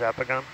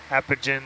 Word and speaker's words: Apogon: I was working with, they could not get the pronunciation, like, in their head. They were, like, saying, like, Apogen and Apogen, and I'm just like, no, Apogon. Can we get a zoom on this fan, please?